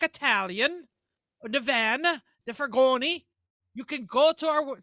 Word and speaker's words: furgone: The Fiat 238 was a van, or as that would be pronounced in Italian, a furgone.